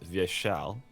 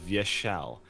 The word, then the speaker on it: Vyeshal: first I'll make a small correction so it's pronounced via shell yes oh yeah via shell it's it's a great example of this thing